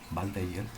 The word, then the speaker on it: Waldeyer: más o menos así, con W, pero como es en alemán, la W suena como V, Waldeyer.